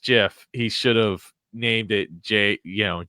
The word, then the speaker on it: GIF: important by the way the way to say gif is jiff as I as I thought it was according to the creator who says it's pronounced jiff like the peanut butter